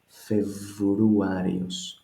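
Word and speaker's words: Φεβρουάριος: We don't say Feb. This B is too harsh for Greek, which is a southerner language. We make it more suave. Februarios. The B turns to V.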